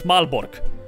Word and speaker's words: Malbork: build basically myself another malbork over here is that's how planets are thinking in english that's how you pronounce it in polish it's malbork the grand castle the